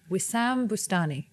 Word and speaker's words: Wissam Boustany: Wissam, no, you say it with more flair. Wissam Boustany.